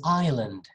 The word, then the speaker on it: island: cheers it's just water the next word is island it looks like the country you know izlanda or something iceland but no it's ireland ireland okay no s island next knife knight